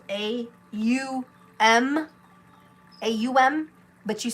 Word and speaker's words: Aum: think of it as pronounced A-U-M. Aum. Really get that U in there.